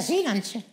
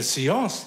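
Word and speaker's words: Séance: Mit einer Seelanze. Mit einer was? Mit einer Seelanze. Was ist eine Seelanze? Das ist Französisch. Heißt so viel wie spirituelle Sitzung. Du meinst eine Seance? Ja, das ist nur falsch ausgesprochen.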